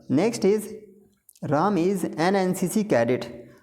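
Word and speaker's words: NCC: इज राम इज एन एनसीसी cadet तो यहां पे देखिए एन भले एन व्यंजन है लेकिन साउंड तो स्वर है यहां पे और हमें साउंड ही देखना होता है तो जब आप एन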